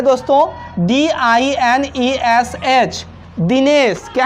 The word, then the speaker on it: Dinesh: तो हम लोग यहाँ पे देख रहे हैं कि जो नाम वाले आई हैं, जो नाम वाले आई हैं, वो आई ई की ध्वनि देती है।